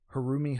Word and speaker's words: Haruomi: This week we reviewing Hono House by Har I'm going to try Harumi Hono. Is that right? Yeah. Yeah, you got it. Okay.